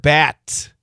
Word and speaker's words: bat: Words that end in the following consonants D or T, B or P, G or K are often stopped before making the full sound.